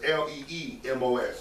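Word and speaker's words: λιμός: the definition of it it's the Greek word limos yeah it's pronounced I smell a MOS but it's pronunciation is l ee MOS the most it is through the idea of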